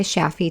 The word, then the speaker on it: Shafie: Connect with her on LinkedIn or Instagram at Sheeta Shaffi to learn more. Sheeta is spelled Shideh, and Shaffi is spelled Shafie.